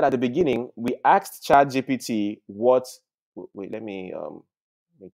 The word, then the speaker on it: ChatGPT: All right, let's go back into ChatG, because people are always saying ChatGTP, now it's now making me say the same thing. So let me start pronouncing it well, please. Let me go into ChatGPT.